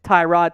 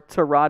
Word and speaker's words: Tyrod: Instead, it is Tyrod Taylor, or Tyrod, depending on how you want to pronounce it. He's fine either way.